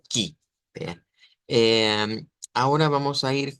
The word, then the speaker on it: que: El que se escribe igual, ortográficamente se escribe igual en el portugués y en el español, pero en el portugués se pronuncia ki.